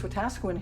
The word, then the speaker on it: Wetaskiwin: HMCS Wetaskiwin here is named for a small community out in Alberta.